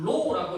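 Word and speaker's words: ρ: 얘는 이제 전기 전도도를 거꾸로 해놓은 로우라고 읽는 문자입니다.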